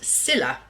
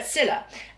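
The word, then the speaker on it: Scylla: pronunciation of this um and it's pronounced Cilla um not Cilla Black but Cilla and this uh The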